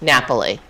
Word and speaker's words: Napoli: call it naples well naples is the name of the city but in italian it's pronounced napoli let's get out of